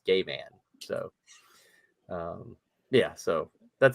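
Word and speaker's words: Gaiman: his name say yo everyone how do you pronounce your last name and he says it's gay man so um yeah so that's the only re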